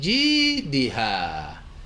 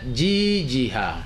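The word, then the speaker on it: جيدها: C'est J et D. Il y en a qui prononcent les deux lettres tout comme une seule lettre. Ces deux lettres n'ont pas la même nature. Ce n'est pas Jijiha.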